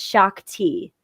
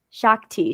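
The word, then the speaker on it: Shaak Ti: It's a Star Wars character, and it's Shakti. So if you ever look up that character, I don't even know how to spell that character. It's SHAAK and then space TI. Shakti.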